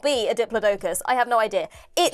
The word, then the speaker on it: Diplodocus: So Diplodocus, I'm fairly certain, is the American pronunciation.